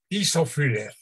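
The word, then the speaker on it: Tiszafüred: Según entendí, nació en este lugar en Hungría, ¿cómo se pronuncia? Tisafüller.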